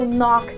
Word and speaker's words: knock: Quando a gente não pronuncia a letra K, normalmente no início de palavras, antes da letra N. No, knock, neck, sneakers e por aí vai.